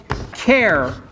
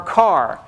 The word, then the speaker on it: char: There's also a type called char or car. And as you can imagine, it's because we like sort of the first syllable of most things, and this is the first syllable of character.